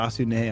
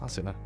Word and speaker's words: Asuna: I thought you said Asune. I'm like, that's not her name. No, Asuna.